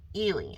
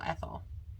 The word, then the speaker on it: Ehle: and Prejudice, starring Jennifer Ehle. I think that's how they pronounced her name. It was Ehle. I called her Jennifer Ethel. I thought it was Ethel, but I think they said Jennifer Ehle.